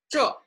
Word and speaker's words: 这: So this in Chinese is 这, falling tone, quite firm, sounds a little bit harsh or rude, you may say. But that's the Chinese pronunciation, 这.